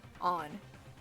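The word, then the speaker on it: Ann: was the pool yeah it's on an on they pronounce it in the game on but um yeah there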